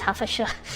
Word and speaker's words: Hertfordshire: Previously, I pronounced Hertfordshire, but actually it's Hertfordshire.